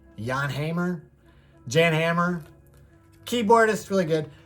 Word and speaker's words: Hammer: I read somebody who said that if you're going to pronounce his first name Jan, then you really should pronounce his last name with like the Czechoslovakian accent that it originates from. So that would be Hammer, Jan Hammer, Jan Hammer.